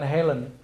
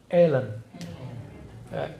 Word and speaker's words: Hellen: Helen itu bacanya bukan Helen. Ellen.